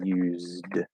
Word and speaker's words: used: but yeah used right it's spelled with an s it's a z and there's a y sound at the beginning used okay and we can